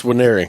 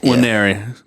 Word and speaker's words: Nwaneri: The N is silent. It's Winery. Nwaneri.